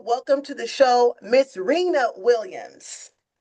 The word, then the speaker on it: Rena: I call her Renee, but Reena is the correct pronunciation of her name.